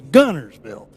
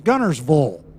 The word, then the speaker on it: Guntersville: a year before that there is no t it's gunnersville and then i learned before they gave me the key to the room it's gunnersvole so gunnersville gunnerswell you're